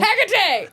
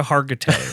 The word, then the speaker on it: Hargitay: Haggerty! And then fucking bounces. Yes, it is Mariska Haggerty Haggerty? of I don't know how to say her TV last name. fame. Oh, Mariska Hargitay. that's how it is.